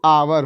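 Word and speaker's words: hour: लेकिन अगर इसका हिंदी उच्चारण करते हैं तो आवर होता है, और आवर की शुरुआत आ से हुआ है।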